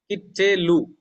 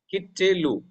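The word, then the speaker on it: קִטְּלוּ: the previous example here, Teth is carrying a Dagesh Forte, so it is doubled. Kittelu. Kittelu. Okay, now the question comes, when the consonant is doubled, whether Shiva is also doubled. No, Shiva will not be doubled. Only the letter will be doubled. Okay, so how I pronounce? Kit.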